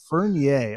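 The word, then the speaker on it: Furnier: Is it pronounced Fernier? Fernier. Okay. It's very, very French.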